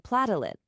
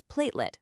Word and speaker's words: platelet: For example, saying platalit with the stress on the wrong syllable might just cause a moment of confusion. The correct way, as we practiced, is platelet with the stress right at the beginning.